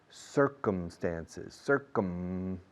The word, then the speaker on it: circumstances: Circuit, circle, circumference, circumnavigate, circumstances, cerrando la boca con la M, por favor.